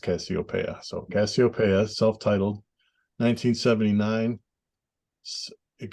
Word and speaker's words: Casiopea: It's based on the constellation, and I think that's pronounced Casiopea.